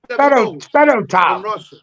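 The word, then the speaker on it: Fedotov: That's how you pronounce the name. Fido tiled.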